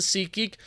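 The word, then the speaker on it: SeatGeek: kind of cool kind of awesome thanks to Sea geek for being them and doing what they do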